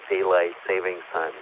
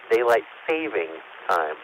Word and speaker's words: daylight saving time: from standard time to daylight savings time yep it's written and pronounced daylight saving time not with an s